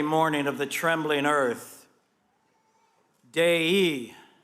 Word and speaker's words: Dei: Dei, Dei, the genitive case for the Latin word Deus, God.